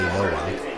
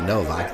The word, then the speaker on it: Nowak: And Dan Nowak, I know you say Nowak, but I say Novak. That's the correct Polish pronunciation.